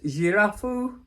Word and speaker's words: Girafou: I've actually looked up the pronunciation. It's pronounced Girafou.